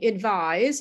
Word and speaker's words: advise: And the second one, advise, which is the verb, has an S in the spelling, but you pronounce it with a Z sound, or Z if you're not in the United States.